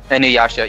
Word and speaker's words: Inuyasha: Inuyasha.